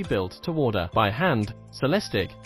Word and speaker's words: Celestiq: to order by hand celestic pronounced cell stic production will necessarily be